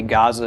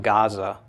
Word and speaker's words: Gaza: So if anyone's familiar with the Gaza Strip in Israel, okay, Gaza is a very ancient name, but it's not Gaza, it's Gaza, okay?